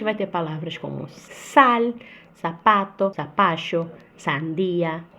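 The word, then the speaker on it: zapato: O S e o Z têm o mesmo som, que é de sapato. E sapato se escreve com Z. Sapato.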